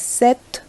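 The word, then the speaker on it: cette: set and then again c e double t e again pronounced as set and then we have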